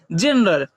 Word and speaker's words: gender: उसी प्रकार यहाँ GENDER, यहाँ जी है, यहाँ जी की ध्वनि क्या निकल रही है, इसे हम लोग क्या पढ़ते हैं, जेंडर।